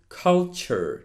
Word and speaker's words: culture: in mind is that it doesn't sound tour it actually sounds like chur chur so pay attention to these words and see how that last part is pronounced it is lecture it is culture not lecture not culture